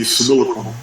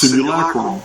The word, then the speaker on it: simulacrum: And for those of you who don't know, yes, I am mispronouncing it. I will continue to do so. This is the way I was raised. I found this word in a 1800s Oxford English dictionary. And I'm not going to change that. It's pronounced simulacrum, and it means it's